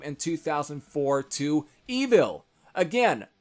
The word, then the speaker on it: Evile: I always kind of pronounce as Evile, but that's probably not really what it's supposed to actually, at least how it's supposed to be said. It's pronounced Evil, but again, they added an E at the end, because I guess it would just be more cooler that way. So, that's the way I guess it's supposed to be pronounced.